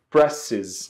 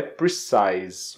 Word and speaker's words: precise: engano por duas vezes eu falei presses né para dizer a palavra Preciso né de precisão exatidão e a pronúncia correta é precise Ok então a palavra